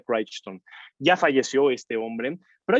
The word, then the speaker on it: Crichton: es como se pronuncia se escribe crichton pero se pronuncia craig stone ya falleció este hombre